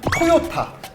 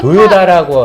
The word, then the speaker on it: 토요타: 이게 토요타 도요다라고 하죠. 다 발음인데 네, 다. 나중에 저희가 또 풀겠지만 그래서 오늘은 그 얘기가 나올 때까지는 토요타라고 이야기해주세요. 제일 아재 같은 발음은 도요다입니다.